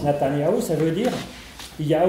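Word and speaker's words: Netanyahou: s'appelle la tania où on sait très bien ça se prononce natanyahou ça veut dire il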